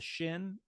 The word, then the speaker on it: shin: sound sha it's a shin if the dot is over the left side you've got the S sound it's a sin and um yeah I